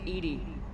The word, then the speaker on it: EDI: Why are you named Edy? Ed is the phonetic pronunciation of EDI. That is an acronym for enhanced defense intelligence.